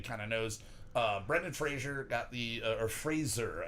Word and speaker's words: Fraser: of knows uh Brendan Fraser got the uh or Fraser I keep saying Frasier I did see a thing where he's like everybody says my name wrong yeah yeah like Fraser is his name but everyone's grandmother yeah